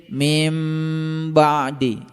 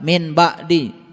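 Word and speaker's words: مِن بَعْدِ: Ketika nun mati ketemu dengan ba, dibacanya mim, didengung sedikit, mim ba'di. Beda dengan orang min ba'di, beda.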